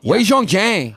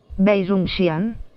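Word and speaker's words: 魏忠贤: Wei Zhong Xian. Neither one of us were right. Wei Zhong Xian.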